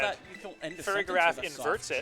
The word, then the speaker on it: Farigiraf: And on Colby's end, we have Fluttermane, Incineroar, Raging Bolt, the Farigiraf, Rillaboom, and Araquanid.